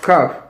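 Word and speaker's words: כף: You can see the letter Kaf, pronounced Kaf, which is also a word for covering, Kaf.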